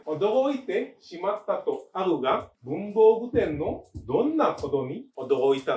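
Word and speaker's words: 文房具店: Oke, bacanya Bunbo Guten.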